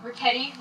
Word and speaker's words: Reti: Reti rhymes with spaghetti.